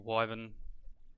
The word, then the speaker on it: Wyvern: I'm a little bit not disappointed, but it's a bit strange to get the Wyvern armor here, or Wyvern, that's how you say it.